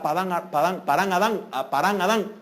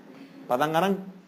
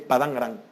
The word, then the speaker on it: Padán Arán: Porque tuvo que salir huyendo Jacob para Parán Adán. No. ¿Cómo? ¿Va? Así. Padán Arán. Así es, Padán Arán.